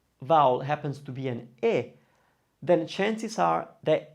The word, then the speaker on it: è: This one is E. It's spelled, it's an E with an accent. it's pronounced e, it's the open one.